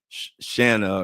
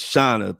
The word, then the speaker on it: Shauna: I kept calling her Shanna or something. And she said, it's Shauna, pronounced like Donna.